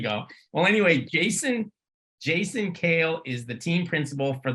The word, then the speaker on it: Kehl: uh well anyway Jason kale and it's also cool because he let us know that it's pronounced Kale like the salad I wish my name